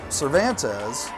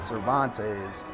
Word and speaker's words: Cervantes: into the chest of Cervantes. I will eventually get his name right. I always pronounced it Cervantes, and then when we came here to Mason City, I found out it is Cervantes.